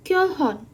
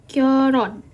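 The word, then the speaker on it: 결혼: Nah, kita bacanya itu bukan kyohon, tapi kita bacanya adalah kyoron. Jadi kita bacanya adalah kyoron. Ini L atau R.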